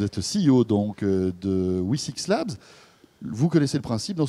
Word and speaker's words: Wi6Labs: Alors, je ne sais pas si c'est comme ça qu'on la C'est un peu prononce compliqué. vraiment. Le nom On de peut dire votre tout startup. simplement WE6 Labs. WE6 Labs.